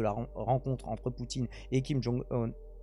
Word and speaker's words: Kim Jong-un: rencontre entre Poutine et Kim Jong-un puisque ça se prononce comme ça donc le leader charismatique